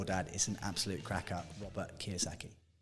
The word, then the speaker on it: Robert Kiyosaki: Yeah, Robert Kiyosaki.